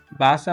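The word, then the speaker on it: Wasser: যেমনটা হচ্ছে পূর্বে বলেছিলাম যে জার্মানরা বেশিরভাগ ক্ষেত্রেই বে এ শব্দ এ সাউন্ডটা জার্মানরা বেশিরভাগ ক্ষেত্রেই উচ্চারণ করে। জার্মানরা বেশিরভাগ ক্ষেত্রেই এ সাউন্ড করে। যেমন হচ্ছে বাসা মানে হচ্ছে যেমন হচ্ছে বাসা মানে হচ্ছে ওয়াটার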